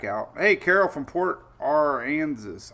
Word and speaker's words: Aransas: Hey, Carol from Port Aransas. How do you say that? I know it's Port Arkansas, but it's Aransas. Is it like Kansas? Aransas? Is that how you pronounce it?